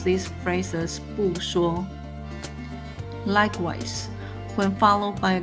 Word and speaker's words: 不说: When followed by a character with the first tone, 说, it remains its original fourth tone. Thus, we pronounce this phrase as 不说.